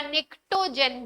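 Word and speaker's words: pnictogen: हैं, नाइट्रोजन family को निकोजन या निक्टोजन भी बोल सकते हैं, पी साइलेंट होता है।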